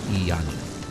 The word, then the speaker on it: Iani: Iani. It's pronounced exactly how it's spelled. Iani.